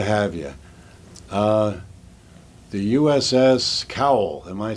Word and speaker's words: Cowell: here great to have you uh the uss cowell am i saying it right yes okay dd 547.